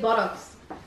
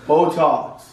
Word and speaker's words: Botox: You need buttocks. What? Buttocks. Yeah, buttocks. They put it. Wrinkles. Botox. It's not. It's Botox. Botox.